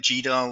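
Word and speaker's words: GDAL: of course youve got things like gal or goodle as some people like to pronounce it uh and all of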